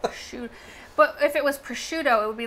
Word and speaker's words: prosciutto: How is prosciutto spelled? It's spelled with a C in it. Oh, okay. Yeah, prosciutto. Well, I can see how SC would make a sh sound.